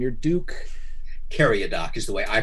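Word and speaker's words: Cariadoc: sca name your duke carry a dock is the way i pronounce it dude but it's really duke carry a dock it's supposed to be a uh a european pronunciation of an arabic name i don't speak arabic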